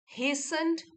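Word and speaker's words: hastened: बट is surprised that mister Nuttall हसंड आउट। हेस्ट होता है जल्दबाजी। और इसकी वर्ब फॉर्म हो गई हसंड। तो यहां पे टी साइलेंट हो गया। हेसंड।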